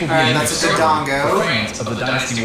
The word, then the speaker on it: Dodongo: the that's next a Dodongo. for fans of the Dynasty Warriors I used series. to, when I was a kid, I used to pronounce it Dondigo because I just couldn't read. There's also a two-player mode.